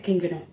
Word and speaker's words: King Gnu: King Gnu. Gnu. So you actually pronounce the G. It's not silent.